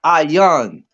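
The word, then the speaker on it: עין: I right the word I right it's called iyan right that that is spelled i y a n right I young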